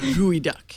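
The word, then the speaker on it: geoduck: It's gooey duck, is how you say it.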